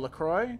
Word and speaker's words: LaCroix: for a pound let's kill everyone I know laro she told me not to but whatever I